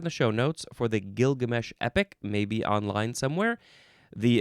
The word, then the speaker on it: Gilgamesh: Next we have gilgamesh. Gilgamesh. Capital g i l g a m h. You can also pronounce it Gilgamish.